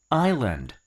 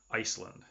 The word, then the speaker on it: island: the word is pronounced I'll end Island not Iceland I'll end Island good